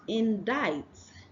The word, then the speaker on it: indict: the next one is indict Indi diet in di the C here is silent have Gastly Gastly Gastly